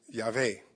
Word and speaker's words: Yahweh: That same tetragrammaton, YHWH, with the W being pronounced like a V.